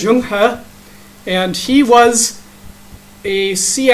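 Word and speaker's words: Zheng He: gotta spell it correctly pronounced as young huh and he was a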